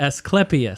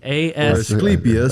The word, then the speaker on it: Asclepias: Asclepias. Spell that. Asclepias.